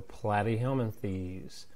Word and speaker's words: Platyhelminthes: And so this is going to be flat rhymes with plat. So Platyhelminthes.